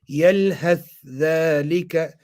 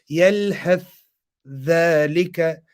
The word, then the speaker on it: يلهث ذلك: According to Tariq Khabazi, they're going to do Izhar. So how they going to read it? يلهث ذلك يلهث ذلك يلهث ذلك. So you're doing Izhar of the Tha.